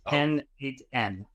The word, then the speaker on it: n8n: It's pronounced N8N.